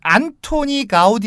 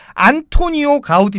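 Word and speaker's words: Antoni Gaudí: 이까 스티어 발음으로 하면 안토니오 가우디 입니다 그 영어식으로 아마 안톤 가우디가 되요 근데 저는 이 여기에 달러 약 이 때문에 안통 가우디 도 아니고 안토니오 가우디 도 아니고 저는 안토니 가우디 라고 불러야 될 것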